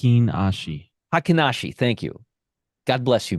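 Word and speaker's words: Heikin-Ashi: Matt H hen ASI hakashi thank you God bless you Matt hakashi sounds like a sneeze um and uh this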